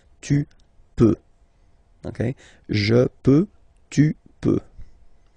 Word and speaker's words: peux: Okay, then tu peux. Same pronunciation and same spelling or writing. Okay, P-E-U-X. Okay, don't pronounce the final x. Tu peux.